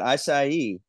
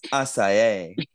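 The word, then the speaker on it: açaí: always call it aai she's like that's not how you say it everyone know be like it's asai I love it I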